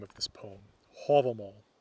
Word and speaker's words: Hávamál: name of this poem hobble mama is the reconstructed Old Norse pronunciation from about the time the poem was written down in the 1200s you're more likely to